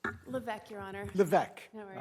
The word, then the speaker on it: Levesque: Did I pronounce that correctly? Levesque, Your Honor.